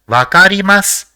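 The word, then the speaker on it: わかります: the fifth is SU so it will be pronounced as vakarimasu which means to understand next let us see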